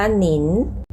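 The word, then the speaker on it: 您: อังกฤษ เลย นะ คะ i + n ค่ะ อิ เช่น คำ ว่า หนิน หนิ นี่ เป็น คำ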